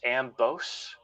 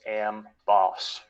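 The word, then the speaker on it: Amboss: correction from earlier uh i was calling am boss ambose but it is pronounced am boss so that's justifiers lightning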